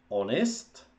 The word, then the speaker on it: honest: Honest sice v písmu začíná písmenem H, ale toto H se v angličtině nevysloví. A první hláska, kterou vlastně v té výslovnosti máme, je O. Honest.